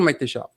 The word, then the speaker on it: Maitexa: Bonjour Maïtécha. Bonjour. Je prononce bien ton prénom? Très bien. C'est la première fois que je voyais un X qui se prononçait en che, donc comme on a